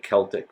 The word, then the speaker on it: Celtic: we have the Celtic sometimes also called Celtic with a k' and pronounced with a k' Celtic but Celtics those the